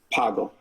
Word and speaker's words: Pagel: How do you say your last name? Pagel? Poggle. Poggle.